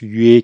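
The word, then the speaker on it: 曰: Quand vous l'aurez aplati à l'horizontale, c'est un autre caractère qui se prononce yue, qui signifie parler en chinois classique.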